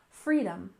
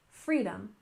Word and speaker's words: freedom: next we have freedom we stressed the first syllable freedom freedom for example freedom of